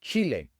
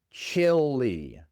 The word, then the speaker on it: Chile: En inglés muchas personas simplemente lo pronuncian así, Chile, pero otras personas dicen chil. Chilly. Otra vez tenemos la i corta inglesa. E y la e al final se pronuncia como una i en español. Chili.